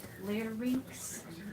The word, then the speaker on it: larynx: So the larynx, which is pronounced larynx.